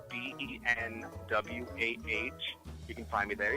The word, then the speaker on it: Benwah: Not the French spelling, my own troll spelling phonetically, BENWAH.